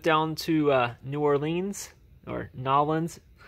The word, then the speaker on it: New Orleans: I went down to New Orleans, or Nolans. New Orleans, actually, is how you pronounce it.